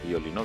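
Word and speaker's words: violino: এরপর রয়েছে ভি, এটাকে অনেকে ভুয়ো বলে, এর উচ্চারণ হচ্ছে বাংলা ভয়ের মতো। তো এটি একটি শব্দ হচ্ছে ভিওলিন, উচ্চারণ হবে ভিওলিন, ভিওলিন মানে হচ্ছে ভায়োলিন।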